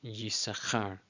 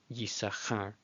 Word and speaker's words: Yissachar: But yeah, basically the rabbis say you're not to pronounce that second sheen, just ignore it. But it is still there in the name Yisachar, Yisachar.